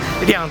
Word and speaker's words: Rean: スペルはライアンとかリーンとかいうふうにも